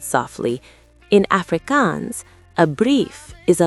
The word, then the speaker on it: brief: The IE sounded just like the EE in English, making it sound exactly like the English word brief.